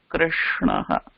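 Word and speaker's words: कृष्णः: The correct pronunciation for the word is Krishnaha.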